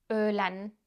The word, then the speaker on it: Öğlen: Öğlen. Lunchtime. Öğlen. Öğlen. Öğlen. Öğlen. Öğlen. Öğlen. Öğlen. Öğlen. Öğlen. This is similar to the sound in the middle of the word bird in English.